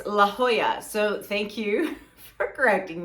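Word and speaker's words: La Jolla: and told me that I was pronouncing La Hoya wrong um I called it la la laola I don't know I've never been so I don't know but it's La Hoya so thank you for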